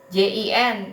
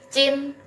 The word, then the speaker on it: jin: Terus ini JIN, ini bukan dibacanya Jin bukan ya, tapi Cin gitu. JIN, J-nya jadi C ya.